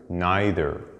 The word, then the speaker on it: neither: Well, some people say either and neither sound more American, while either and neither sound more British. But I want you to know that both pronunciations are correct in both American and British accents.